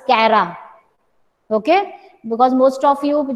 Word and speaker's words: Chara: So don't pronounce it as Chara, it is Cara.